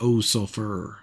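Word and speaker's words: Ov Sulfur: I think it's Ove Sulfur is how you pronounce it.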